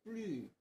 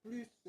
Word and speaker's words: plus: 그리고 "plus" 는 " 더 이상 없음 " 이라는 의미 일 때 는 "plus" 로 발음 하지만 , 명사로 쓰일 때 는 "pluss " 로 발음 합니다 . 마지막 자음 을 발음 하는지 여부 에 따라 발음 이 달라집니다 . 그 부분 을 정확히 알아야 해 요 .